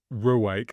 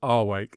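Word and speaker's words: Rwake: So Wake, which you pronounced Ruwake and I pronounced Wake. They're called Wake. Go Wake. Well, that's easy. I can live with that. If it's a silent R, I can live with that. The R is silent.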